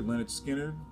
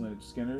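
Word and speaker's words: Lynyrd Skynyrd: time third piece here leonard skinner pronounced lynch skinner of course another classic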